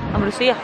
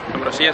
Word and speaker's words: Ambrosía: Lleva tilde, Ambrosía. Ambrosía sería, claro.